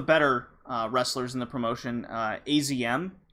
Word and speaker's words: AZM: wrestlers in the promotion, AZM, I think they pronounce it Azm in Stardom, was against the challenger for Io Shirai's white belt title, Momo Watanabe, with her partner, Konami.